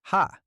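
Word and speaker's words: ห้า: In Thai, the number five is pronounced ha.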